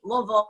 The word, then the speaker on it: Louisville: better in Louisville Kentucky Louisville I said it right bull Ville you guys say it like they got a mouthful of marbles I said it right